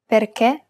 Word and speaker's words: perché: The other accent is the acute accent, and it's used to indicate that we should pronounce it as a closed E. Perché, finché.